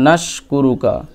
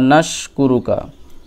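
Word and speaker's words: نشكرك: এই সিনটা উচ্চারণ করবেন জিহ্বার মধ্যভাগ তার বরাবর উপরের তালুতে লাগিয়ে ওকে জিহ্বার মধ্যভাগ সোজা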